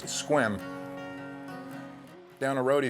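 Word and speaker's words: Sequim: Seattle said we'd find him in a town pronounced squim down a road he said with a funky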